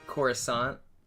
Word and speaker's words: Coruscant: Coruscant. Coruscant. Like croissant, but not croissant.